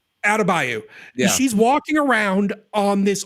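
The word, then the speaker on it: Adebayo: I don't know how to pronounce her character's name. They call her Adabayo. Adabayo.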